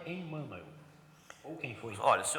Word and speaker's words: Emmanuel: Existe na psicografia do Chico, talvez 2 Emmanuels. Um na fase que foi febiana e outro pós-febiana. Os livros publicados fora da FEB, de Emmanuel, ou Emmanuel, como é a melhor pronúncia, eles são de outro tipo, de outra qualidade.